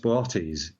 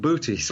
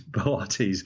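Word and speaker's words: Boötes: It's usually pronounced Bortas, so there's two O's in it. It looks like booties, but it's Bortas. The second O has an umlaut over it to tell you that it is pronounced as a separate vowel.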